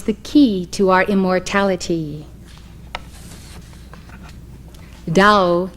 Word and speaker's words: Tao: key to our immortality Dao in Chinese which as you know is spelled t-a-o Dao means Road way